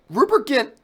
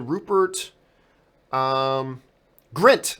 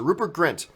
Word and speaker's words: Rupert Grint: of all Rupert get Rupert Kent has if I by the way am I saying his name right hall second dududududu is it Rupert Grint sorry I mispronounced it Rupert Grint he's got that show